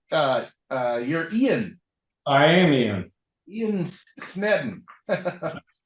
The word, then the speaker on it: Sneddon: Ian Sneddon. That's correct. How do you pronounce it?